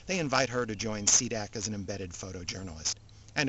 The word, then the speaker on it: SDC: from the UNF cold the SDC pronounce c-dac its mission is to